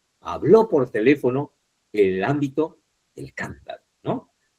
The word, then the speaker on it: teléfono: teléfono en la antes penúltima, aunque tenga una sílaba